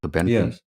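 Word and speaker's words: Cobenfy: It's called I guess coenvi how to pronounce it. Is that right? Cobeny.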